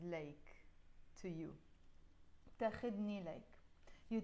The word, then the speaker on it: ليك: This one also comes more like standard Arabic, which is إليك, or let me write it with Roman letters, إليك, but we pronounce it in Lebanese ليك, to you.